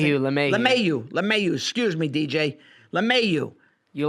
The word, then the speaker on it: LeMahieu: Lemieux. Is that how you say it? LeMahieu.